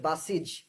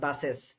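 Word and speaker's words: buses: এটার উচ্চারণ হচ্ছে বাসিজ, নট বাসেস, বাসিজ, R tense.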